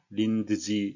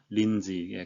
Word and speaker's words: Lindsay: 하원의장 린지 호이 줘 린드 지 린드 3 이게 아니고 린 지에 가운데 것은 발음을 생략하겠습니다 크고 강하고 정확하게 발음이